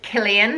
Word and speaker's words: Cillian: first name on my list is the name Killian and that's spelled see I ll I am and you